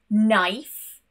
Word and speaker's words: knife: Let's move on to the letter K, and this is only silent when the first letters are K and N. For example, no, knife, or knee.